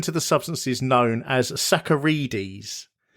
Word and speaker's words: saccharides: I've never heard of sacarides and and yet it means sugar. So I had to type it in and then it came up and I said that says saccharides.